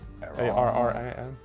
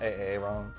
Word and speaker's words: Arran: That's how you pronounce it. Heavy on the R. Okay. There's two. Arran. Not Arran.